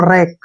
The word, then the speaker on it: wreck: डब्ल्यू के बाद फिर से आ रहा है तो हमने डब्ल्यू को यहाँ पे नहीं पढ़ना है। कैसे पढ़ेंगे अब इसको? आर ई का उच्चारण हम रे के रूप में करेंगे और सी के को हम कै पढ़ेंगे। इसको पढ़ेंगे हम रैक।